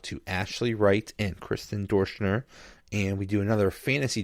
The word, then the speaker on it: Doerschner: Okay, how do you say her name? Doerschner, like Okay. adore. Doerschner. Okay.